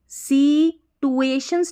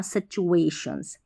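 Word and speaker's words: situations: difficult सी टुएशंस नहीं पढ़ना सिचुएशंस सिच सिचुएशंस देखिए टी यू ए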